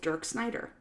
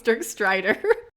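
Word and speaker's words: Dirk Strider: mention having sex with dirk snyder you said his name wrong it's jerk strider but yeah i think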